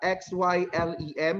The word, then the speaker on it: xylem: just like the part of implant spelled as x y l e m how do we pronounce that x y l e m we do not pronounce that as silent we